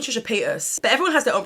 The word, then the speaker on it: Paytas: say I see Trisha Peter some people say Paytas like as in Trisha pay your taxes and I'm like no I said Trisha pay us but everyone has their